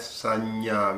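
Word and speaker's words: saññā: Nya is the ending letter, and even if you have nya preceded by this ang sound, that also becomes nya sound. That is why we pronounce it as sanya.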